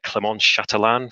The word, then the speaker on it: Clémence Chatelin: home games i'm joined today by the multi-talented clemons chatelaine from paradigm norton and we just had a laugh about present about uh pronouncing your name correctly did i do all